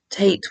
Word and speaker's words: Tate: This character's name is Joan Tate, Tate which rhymes with Kate, and Joan as in Joan of Arc, the Catholic saint who is remembered for wearing masculine clothes.